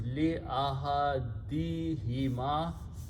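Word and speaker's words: لِأَحَدِهِمَا: We pronounce this huma as hima for easy tajweed. So the final word is li ahadihima, for one of the two.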